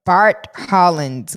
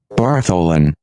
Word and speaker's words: Bartholin: Female prostate is the Bartholin's gland. How the hell do you pronounce that in real life? B-A-R-T Holland's gland. Bartholin.